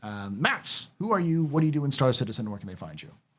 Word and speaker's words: Matze: So it's Mats, and just like it's spelled there, MATZE, Blue Eye.